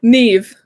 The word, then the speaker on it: Niamh: to get it wrong neve uh it's a irish name it's an irish name actually it's easy it's easy to remember because it's the same as the mixing console neve mixing consoles and you go to